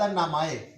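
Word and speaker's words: 名前: उसके बाद नामाए, नामाए को उर्दू में कहते हैं नाम और इंग्लिश में कहते हैं नेम। तो नाम जो है इसको जापानी ज़ुबान में नामाए कहते हैं।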